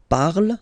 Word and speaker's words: parle: ending e, and then the way to pronounce it is je parle. Parle. So remember, we put it, okay, but then we don't really pronounce it.